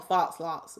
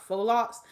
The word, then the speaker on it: faux locs: with them faux locs i call them false some people call them false locks but they i think they're pronounced faux locs another explained by the